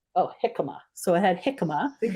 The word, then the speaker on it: jicama: uh mango pineapple and Jicama is that how you say it um with an H J is pronounced H oh jicama so I had jicama